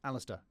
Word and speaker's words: Alasdair: It's Alis- Alister, not Alist- uh First Fairphone,